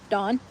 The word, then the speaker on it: Dawn: Dawn. I do kind of pronounce Dawn like Dawn, D-A-W-N instead of D-O-N.